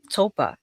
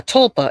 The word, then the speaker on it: tulpa: I think it's called topa. Wait, maybe I'm saying it wrong. Definition of topa creation. I'm looking on Google here. Yeah, tulpa. It's Tulpa.